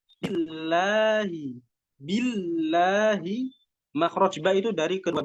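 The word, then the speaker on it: بالله: Jadi nggak bisa billahi, bacanya biasa billahi itu nggak bisa, tapi harus ditekan.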